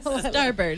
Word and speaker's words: starboard: Starboard? Starboard. Like bird? Like Starboard, even though it's spelled differently?